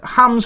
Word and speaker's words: James: hes Rodriguez it's spelled James oh no hry is spelled Henry all right well let's call him tierry Henry then but his name's hams Rodriguez yeah but it's not is it it's